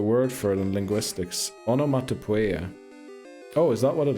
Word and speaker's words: onomatopoeia: 1 encounter is Onomatopoeia. Onomatopoeia, that's how it's pronounced. I don't know why I was doing onomatopoeia.